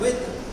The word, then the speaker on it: with: अब सबसे पहले WITH इसका उच्चारण विथ नहीं होता है, इसका उच्चारण होता है विथ।